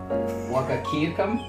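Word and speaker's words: Wahkiakum: He ran for the county clerk in you can't even pronounce that county's name. Wakakiakum?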